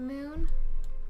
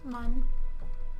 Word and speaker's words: Mun: There's the moon. Oh, mun. Or moon, depending on how you like to pronounce it.